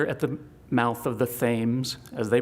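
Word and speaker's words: Thames: find ourselves here at the mouth of the Thes, as they pronounce it, river and the city of New London.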